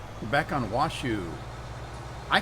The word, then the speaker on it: Washoe: mean, who's the author, he calls it Washoe. So I suppose I should defer to his pronunciation and call it Washoe.